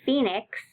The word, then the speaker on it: Phoenix: that represents one sound so if you look at the beginning letters pH in the City Phoenix Phoenix that first beginning letters pH represents one sound which is f like as in fish but it's spelled very differently than in fish and our diagraphs remember